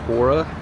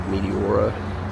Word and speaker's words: Meteora: It's Mura. I think I said Meteora, but our taxi driver said we are going to Mura. So, hopefully I pronounced it right this time.